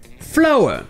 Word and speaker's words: flower: avec une prononciation différentes ces deux mots sont flower oui ils se pensent bien exactement de la même façon flower est bien sûr